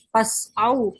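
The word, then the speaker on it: فاسعوا: Oh, yang saya pahami, Pak, pas'au, pas'au. Ya, itu benar. Karena ini tulisan Mushaf Madinah, sesudah huruf fa itu ada tanda wasal.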